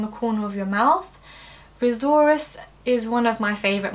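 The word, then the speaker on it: risorius: You can pronounce it raisorus because it raises the corner of the mouth, just in case that helps you remember.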